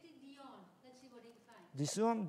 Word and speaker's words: Dion: Dion. Let's see what you find. Dion. Dion. No. Correct. D. D. I India. Uh huh. Oscar November. Like Celine Dion.